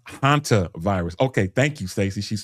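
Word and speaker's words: hantavirus: It's pronounced hanta virus.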